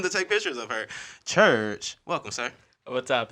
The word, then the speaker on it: Churkh: So social media name is Church, but it's spelled Churkh.